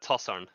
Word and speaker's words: TossarN: And yeah, go it's ahead. pronounced TossarN. TossarN. Yeah. Okay, cool. I didn't know with the capital N if I should pronounce it like at the same or like different, but yeah.